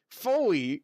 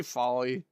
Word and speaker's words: Foley: Peter, Foley rhymes with holy. Did I say folly?